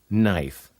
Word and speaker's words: knife: can hurt your knuckle others with a silent K before n are night knob not knife who is the fool